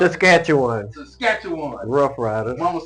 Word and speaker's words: Saskatchewan: How you pronounce it? Saskatchewan.